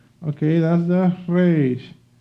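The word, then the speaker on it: ריש: Okay, that's the Resh. You can pronounce it as a Spanish speaker, Resh, or you can also use the French way to speak the R.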